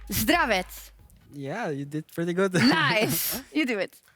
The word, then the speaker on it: Zdravets: And I was just checking, and I asked Yamato as well, how to pronounce Hilly's first name correctly. Zdravets.